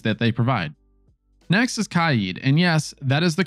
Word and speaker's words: Kaid: Next is Kaid, and yes, that is the correct pronunciation. Shame on you if you're saying Kaid.